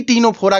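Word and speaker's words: Ctenophora: को पढ़ना है देखिए सी तीनों फोड़ा करके लिखा गया है लेकिन यहां पर सी जो है साइलेंट कर दिया गया है इसको पढ़ेंगे क्या तीनों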